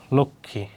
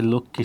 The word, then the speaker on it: লক্ষ্মী: ওইরকম যক্ষা, সূক্ষ্ম, লক্ষ্মী উচ্চারণ হবে কি, যেমন গান আছে লক্ষ্মী সোনা।